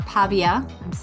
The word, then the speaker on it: Pavia: Pavia is also, or Pavia, I'm going to say it wrong. Pavia, you're good. Pavia, I had it right the first time?